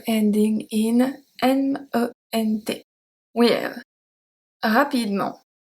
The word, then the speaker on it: rapidement: We have rapidement, rapidement, rapidement.